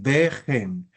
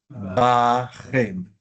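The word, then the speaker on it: בָּכֶם: Tú dices vejen, pero a las preposiciones les gusta más la A. Bajem. Pasó anteriormente también, ¿no? Sí. Bajem en este caso.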